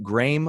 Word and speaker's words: Graeme: this um interview by is it graeme woods is that how you say his name i think i just heard it graham would but i could ramble okay yeah right graham would yeah that shows how much